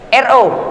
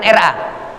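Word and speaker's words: ر: tangan] bukan taro taro kalau kita bacanya huruf ro Kalau ditranslasi bahasa Indonesianya ro bukan ra ya biar sedikit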